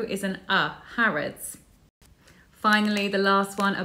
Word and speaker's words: Harrods: Lots of international students love visiting Harrods, but they often say Harrods. Actually, it's Harrods. That O is an uh, Harrods.